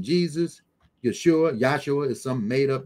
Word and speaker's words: Yeshua: to him by his original name Yeshua not yahshua and not Yeshua okay